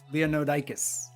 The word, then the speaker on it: Leonoudakis: last name just to make people like you pronounce it. Okay, cool. Leonoudakis.